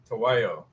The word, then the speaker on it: Tahuayo: So Paul is the founder of, now is it Tahuayo? Tahuayo.